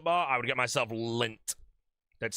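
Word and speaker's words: Lindt: Outside of that, if I actually wanted to buy myself a chocolate bar, I would get myself lint. That's spelled L I N DT.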